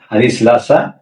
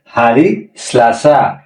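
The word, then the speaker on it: Hari Selasa: কি বলছে বার বলা হয়েছে হারি আহার হারিসন হারিসলাসা হারি রাবু হারি কামুস হারি জুমমা হারিলাসা এটা ছিল সপ্তাহের সাত দিনের নাম আবার বলি এর উচ্চারণ কি হবে হারি আহাদ হারি আহাদ হারি ইসনিন হারি ইসনিন হারি সলাসা হারি সেলাসা হারি সলাসা হারি রাবু হারি রাবু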